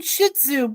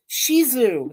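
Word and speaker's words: Shih Tzu: spell well he's saying shitzu but that's not how it's pronounced the t is silent it's shisu that's how the dog's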